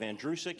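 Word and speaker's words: Andrucyk: it is in reality my last name is pronounced like the boy's name andrew who is sick you run it together you have andrewsik it's that simple it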